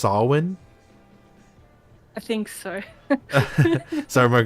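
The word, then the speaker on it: Samhain: Fun fact, like, if I said this wrong, Stony would, like, yell at me, because she's like, it's pronounced Salwin.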